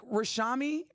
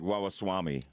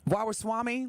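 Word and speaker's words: Ramaswamy: people of color and Vivic rashami is that is that you pronounced his name uh Vivic waas Swami waas Swami yes with Elon Musk I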